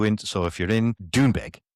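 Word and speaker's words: Doonbeg: So, if you're in Dunebeg, as the Americans say it, they they don't say Dunebeg, they say Dunebeg. They say it as quick as they can.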